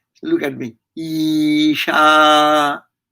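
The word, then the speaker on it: ईशा: saying look at me isha so this is a long vowel so you should have to pronounce long when you say ooh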